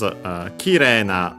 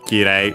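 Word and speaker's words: 綺麗: First and foremost, Kire, or Kirei for those who still pronounce E as that instead of long E. The accent is on the ki, regardless. Kire, high and low, low.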